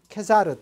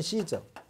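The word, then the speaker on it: Caesar: 그리고 원래 로마의 최초의 집정관이고 이거 독재 집정관이었으니까 이 카이사르는 개인의 이름이지만 케사르 또는 시저, 케사르라고도 부르고 시저라고도 부릅니다. 다 같은 말이에요.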